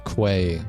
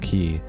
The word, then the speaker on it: quay: Or no, I said a quay wall, but it's pronounced key.